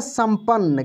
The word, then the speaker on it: संपन्न: जैसे यहाँ पे लिखा है संपन्न। क्या लिखा है? संपन्न। देखिए यहाँ पे म का उच्चारण हो रहा है लेकिन बिंदी लगा हुआ है, ठीक ना।